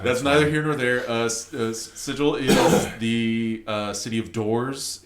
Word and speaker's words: Sigil: with Die Vecna Die, with Vecna is trying to invade Sigil, which should be called Sigil. Right, That's how you pronounce that word.